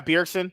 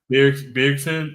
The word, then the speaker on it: Bjergsen: Yeah, Bjergsen. Yeah. Bjergsen.